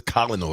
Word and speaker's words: colonel: Colonel Sanders must been Colonel that that says colel right well that's how yeah